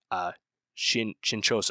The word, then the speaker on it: Shinchosha: This was actually produced by Shinchosa, I believe is how you say it, which is the producer of the short story the film is based on.